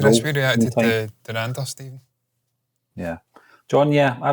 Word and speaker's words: Dhurandhar: it's Dhurandhar, because they were saying that there. Dhurandhar. And yeah. So that's how you say it for sure.